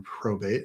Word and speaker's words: probate: Again, probate rhymes with state.